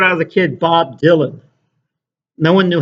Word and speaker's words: Dylan: That was the main I remember when I was a kid, Bob Dylan. No one knew how to pronounce his name. Bob Dylan? Dylan? Bob Mylanta? You know. I said it's Dylan.